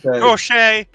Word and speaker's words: Crochet: Garrett Crochet or Crockett, I don't know how you say it. Crochet. You had it right.